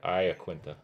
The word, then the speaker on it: Iaquinta: Yeah, Iaquinta.